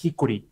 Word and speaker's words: Hikuri: And well, I can hear you sound like having trouble pronouncing how I want to be called is yes. Hikori.